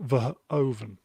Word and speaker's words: Verhoeven: folks Iceman German Dutch letter V is pronounced F so it's Paul ver oven behaven he I think